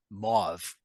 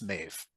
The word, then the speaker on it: Maeve: Tanya pronounced a name as Mauve when it's Maeve, and that's it.